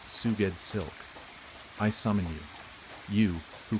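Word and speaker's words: Sgoued Slk: S G O U E D S L K pronounced Suged Silk.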